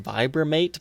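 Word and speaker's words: Vibramate: maybe I'm not upset I guess it's technically pronounced vibra mate but I've always said vibhu mate it just seems to make more sense to me so these are Les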